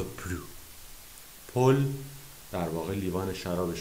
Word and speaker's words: plus: نون پلو، چون در واقع اینجا ما یک سانس نگاتیو داریم، معنی منفی داریم، اس تلفظ نمیشه.